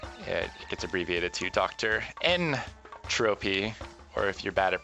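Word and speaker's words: N. Tropy: N Tropy, or if you're bad at pronouncing things, Dr.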